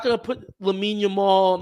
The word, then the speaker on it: Lamine Yamal: Everyone makes fun of him for saying Lamine Yamal's name wrong. He says Yamin Yamal.